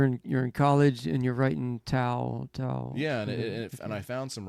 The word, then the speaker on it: Tao: And one of the words that came out that I kept writing was Tao, Tao, Tao, Tao, Tao, like T-A-O, T-A-O, yeah. T-A-O. Is it pronounced like Tao with a D?